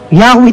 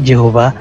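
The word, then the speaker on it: Yahweh: ano walang walang Jehova yahwe talaga yan yahwe talaga ang ang bigkas nila diyan hindi Jehova pero sa panahon kasi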